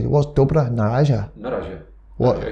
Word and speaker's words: na razie: How do you say, what's dobra na razie?